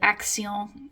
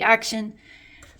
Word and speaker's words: Action: a discount store here called axal or if you were pronouncing it in English it could be action and they have a